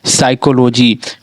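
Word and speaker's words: psychology: जाता है, एस के पहले पी अगर मिल जाता है तो हमारा पी साइलेंट होता है। जैसे कि PSYCHOLO, पाइथोलॉजी, क्या बनाइए, पाइथोलॉजी, पाइथोलॉजी पढ़ा रहा है, पाइथोलॉजी, लेकिन हमारा क्या ये पी हमारा साइलेंट है, इसी कारण से इसे हम पढ़ेंगे साइकोलॉजी।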